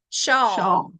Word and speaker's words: Shaull: Shaw, like y'all, but shaw.